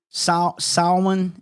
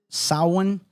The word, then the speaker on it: Samhain: Samhain is how you pronounce it. Samhain. You could hear me hit the computer back here trying to figure out how to pronounce this word, because my goodness, some